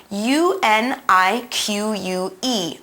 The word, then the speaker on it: unique: here which is spelled un i qu e unique remember that the queue here is going to sound a bit like a que now in this sentence